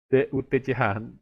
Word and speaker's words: Dutch: Ya, nama bangsanya DUTCH, bacanya Dutch.